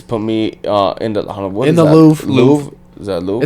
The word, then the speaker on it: Louvre: Louvre. Is that Louvre? It's a building in France. Yeah. And okay, that's why they don't pronounce it R.